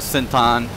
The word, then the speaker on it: Central: me to Central and the Thai folks they pronounce it sent on so you just say by sent on but I'm going to